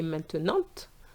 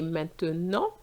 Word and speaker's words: maintenant: Or words like maintenant, I didn't say maintenant, I say maintenant. The T is silent.